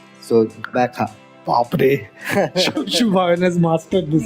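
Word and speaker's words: Gqeberha: Right now it's Bekha. So that's the pronunciation. So GQ in that spelling stands for Bekha.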